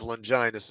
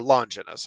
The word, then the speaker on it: Longinus: And that's what the lance of Longinus is supposed to be, or Longinus. How I've heard it pronounced both ways.